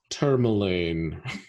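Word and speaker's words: Termalaine: much further is it tourmaline or is it term elaine it's so it's i i can double check the pronunciation but it's named after the stone okay like that because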